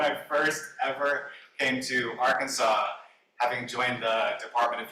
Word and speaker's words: Arkansas: down in the Arkansas Arkansas has an S at the end but it's not pronounced for some reason you